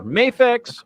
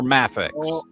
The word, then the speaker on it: Mafex: Acceptable ways to pronounce that are Mayafex or Mafex.